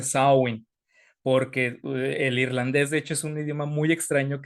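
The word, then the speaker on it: Samhain: aparecen los muertos Entonces se escribe samhein pero se pronuncia sawyn porque el Irlandés de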